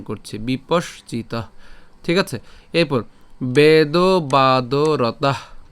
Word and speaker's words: বিপশ্চিত: এরপর বিপশ্চিত, বিপশ্চিত, অর্থাৎ আমরা এই বিপস তালব্য পর্যন্ত উচ্চারণ করে তারপরে হচ্ছে চিত উচ্চারণ করছি, বিপশ্চিত, ঠিক আছে।